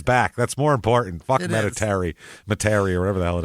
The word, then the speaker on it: Metairie: He asked the driver to take him to Meditaire. How did we find out that was said? Spell it? Metairie. Yep. Metairie, I think is how someone said to say it.